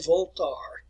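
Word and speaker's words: Voltaire: uh uh 27 y voltar uh if you say it in french there all right now the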